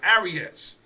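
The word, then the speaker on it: Arraez: They traded the batting title winner and Luis Arias, let me say it right, Arias, who hit .316, 8 home runs, 49 RBIs,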